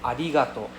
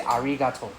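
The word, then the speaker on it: ありがとう: For example, we also have adigato. Adigato. You don't say arato. Arato sound very. Okay. Then it's very obvious that you're not native.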